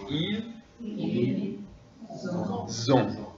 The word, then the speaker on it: ils ont: Et répétez la classe, ils ont, hein, c'est comme la lettre Z, ils ont, c'est ça, ils ont.